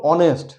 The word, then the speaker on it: honest: আরও কিছু আছে যেগুলো সাউন্ড সাইলেন্ট থাকে, যেরকম অনেস্ট, অ্যান অনেস্ট পারসন। দেখো HONEST, ওখানে এইচ আছে কিন্তু এইচ সাইলেন্ট।